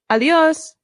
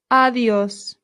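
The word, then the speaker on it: adiós: A good way to say goodbye in Spanish is a simple adios. Adios. Adios. Excellent. Adios. Notice the accent. This is where our stress is.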